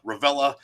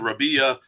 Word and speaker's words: Revilla: i don't even care the pronunciation does change as you go diagonally from maine down to california it goes from like a real hard revilla ravella and then rabia yeah it changes as